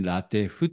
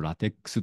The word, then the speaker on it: LaTeX: らしいんですね私はしばらく昔からこうラテックスとかな手呼んでたんですけども途中で誰かにラテフって読むんだよって指摘されて恥ずかしい